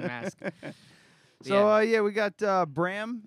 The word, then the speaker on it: Bram: So yeah, we got Bram. It's pronounced. Yep. Because I was yeah. saying Bram because I'm a big fan fine.